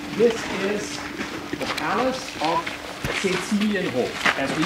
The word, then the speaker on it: Cecilienhof: gentlemen, this is the Palace of Cecilienhof, as we pronounce it. You hear the name Cecily, and as a matter of fact, there were two important persons for whom this palace here was built.